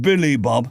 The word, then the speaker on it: Billy Bob: It's pronounced Billy Bob, the trucker said.